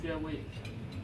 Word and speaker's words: Xuewei: In Chinese, this X pronounced like a SH, so it's Xuewei.